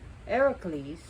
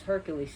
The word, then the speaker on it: Heracles: there's a story where Heracles we pronounce as Hercules here but Heracles who's a hero is one